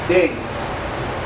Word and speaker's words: Dennis: Y yo soy Denise, que se pronuncia Denise, pero se escribe con doble S y E al final. Yo acentúo su nombre en la primera sílaba y el mío en la segunda.